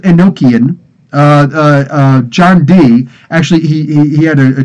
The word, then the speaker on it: Enochian: the language of angels it looks like it's spelled a no chin no it's Enochian that's the proper word but that's the difference